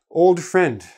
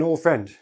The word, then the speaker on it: old friend: video I told you if the letters for last last letter and first letter are the same you can drop one but we do it anyway even if they're not the same I have an old